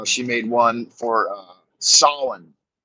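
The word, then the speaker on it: Samhain: made one for uh Solon which is spelled Sam Hayne s-a-m-h-e-i-n Solon the Harvest Festival of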